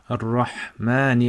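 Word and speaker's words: الرحمن: So, Bismi, and then Allahi, then Ar-Rahmani. Remember, the Shadda represents two letters.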